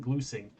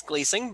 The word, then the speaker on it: Glusing: rpgs for samurai sheepdog his name is gleusing am i pronouncing that right did i pronounce it properly uh well technically it's gleasing but yeah i don't mind everybody does it